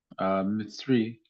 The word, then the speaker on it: Mitzri: And the Egyptians, Mitzri is the way that's pronounced from you. Pluralized Egyptians, it's Mitzri.